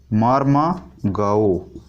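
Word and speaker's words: Mormugao: मार्मागाओ या कहीं कहीं मुर्मुगाओ भी लिखा रहता है। मुर्मुगाओ या मार्मोगाओ, मार्मागाओ या मार्मोगाओ या मुर्मुगाओ, जो भी आपका प्रोनाउंसिएशन मिले।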